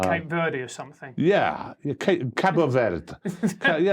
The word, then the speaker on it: Cabo Verde: Yeah, Cabo Verde. Cabo Verde. You mispronounced the name, and that's it.